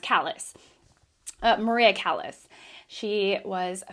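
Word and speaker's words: Callas: I want to say Calais because it's more, it's like French, but I think it's pronounced Callis.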